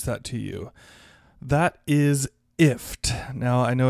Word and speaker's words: IFTTT: to you that is ift now i know it's i f t t t but they do pronounce it ift like gift without the g and ift is an